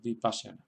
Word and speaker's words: Vipassana: En el caso de Vipassana, pues tenemos que detrás de pa, pues van dos consonantes seguidas, she, sha y ya. Tenemos la ligadura de sha y ya. Y por tanto esa sílaba es larga y ahí se queda el acento, Vipassana.